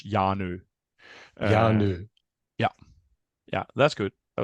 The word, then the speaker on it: Hjarnø: and and uh yeah the H is is uh unpronounced so it's yanu yeah yeah that's good